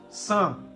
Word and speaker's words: Sans: Sans. S is silent. Sans.